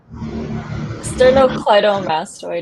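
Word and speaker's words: sternocleidomastoid: Uh, sternocly mastoid.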